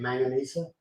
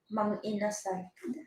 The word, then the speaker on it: Mang Inasal: Manganese. Is that how you say it? Manganesa? Manganizo? Mang Inasal. Oh, Manganesa. Mang Inasal.